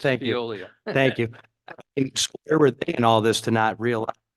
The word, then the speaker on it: Veolia: They were the ones that also, I believed when they wanted to private was pushing alveoli, if I pronounce that right, Veolia, It's thank you. Veolia.